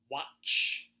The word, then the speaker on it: watch: It's kind of like match. It's spelled like match, but we have a different sound.